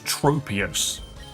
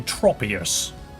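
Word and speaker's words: Tropius: I always thought this was Tropeius because I'm stupid. It's actually tropous from the word tropical generation.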